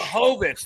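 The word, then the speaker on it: Błachowicz: Blachowicz, that's what it was. I was so worried about Jan that I forgot about the Blachowicz there.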